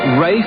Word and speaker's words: Ralph: Rafe Fiennes. Where the hell does he get Rafe, for crying out loud? R-A-L-P-H is spelt Ralph, you idiot.